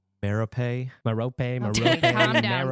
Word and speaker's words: Merope: Hepzibah Smith, Marvola Riddle, Eileen Prince, or Merope Gaunt?